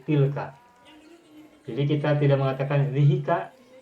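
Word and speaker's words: تلك: Nah, tapi pengucapan zihika itu tidak enak, tidak sedap. Maka khusus untuk ini, zihi ditukar menjadi ti. Menjadi ti, tambahkan lam, kemudian baru tambahkan ka. Menjadi tilka.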